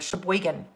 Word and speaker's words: Sheboygan: like the sound of that word sheboygan boy again okay so um oh